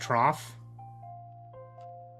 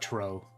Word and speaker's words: trough: Pronounced trough? Oh yeah, it's not tro.